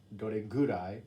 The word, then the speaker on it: どれくらい: And then どれくらい it can also be pronounced どれぐらい or you can also say どのぐらい。どれくらい食べるの？一日平均何時間筋トレするの？一日平均何時間筋トレするの？週平均何回買い物に行くの？週平均何回買い物に行くの？平均 is on average.